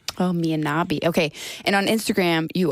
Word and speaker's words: Poria Mianabi: This is Poria Mianabi. Oh, Mianabi.